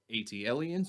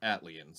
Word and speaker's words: ATLiens: the debate has been is it 80 aliens or is it atlan's big boy set it in their atleans so that probably is how it's said since they made the song but that's neither here